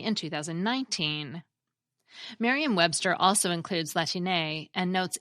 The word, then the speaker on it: Latine: We also have Latine, but some English speakers may pronounce it Latine.